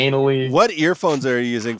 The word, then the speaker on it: Aenly: Aenly, yes.